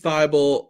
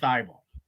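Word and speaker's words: Thybulle: the hard work uh daryl mori called uh matisse theible uh tybal uh like 20 times in the party i think he doesn't know how to pronounce his own player's name i i i've only ever heard anyone else call him thy ball and i think that's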